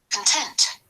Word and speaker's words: content: Content. Content. This is the adjective. So the first one. Content. So the stress on the second one.